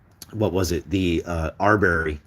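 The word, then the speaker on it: Arbery: was it the uh Arbury Arbury arbory is how you say is uh Ahmad I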